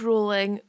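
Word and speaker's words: Rowling: pronounced her name wrong I know it's rolling please don't get angry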